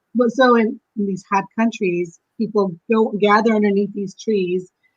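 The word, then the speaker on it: peepul: So the people tree, there's actually a tree in Asia it's spelled P-E-E-P-U-L, people.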